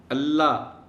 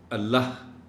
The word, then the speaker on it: اللہ: کہ کم از کم لفظ اللہ کا جو تلفظ ہے اس کو تو صحیح رکھنا چاہیے. اللہ غلط تلفظ ہے. اللہ کا آخری حرف ہے اے، اور بولتے ہوئے اس کو سنا جانا چاہیے.